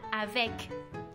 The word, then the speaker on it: avec: Por ejemplo, en la palabra avec, tenemos dos sílabas. Avec, tenemos una E, pero esta E no termina mi sílaba. Entonces, esta letra se va a pronunciar E.